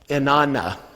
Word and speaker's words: inanna: Now that I say inanna, even though it looks like ana on the page, the way we pronounce this is, in Aramaic, inanna.